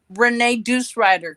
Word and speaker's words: Renee Deucerider: say your name here that's uh renee deucerider because i ride a harley davidson deuce okay is that one